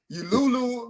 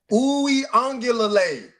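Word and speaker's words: Uiagalelei: DJ, Lulu. He said DJ Lulu. However you want to say it. Uwe Ongulale. That's how you say it.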